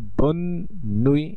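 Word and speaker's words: bonne nuit: সেই ক্ষেত্রে আমরা এখানে এন এন মানে একটু স্ট্রেস দিয়ে বন নুই বলছি, এখানে কোনো আপনারা নিশ্চয়ই চন্দ্রবিন্দু দেখছেন না, আর এখানে উচ্চারণটি হবে বন নুই।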